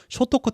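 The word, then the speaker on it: 聖徳: 성덕태자라고, 이거 이제 일본식 발음은 쇼토쿠 태자라고 불리는 태자입니다.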